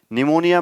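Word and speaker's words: pneumonia: निमोनिया में आपका पी रहता है साइलेंट, निमोनिया में पी क्या रहता है आपका, साइलेंट।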